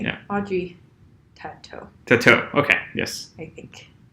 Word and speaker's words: Tautou: Audrey Tautou. I want to say her name correctly. Yeah. Audrey Tautou.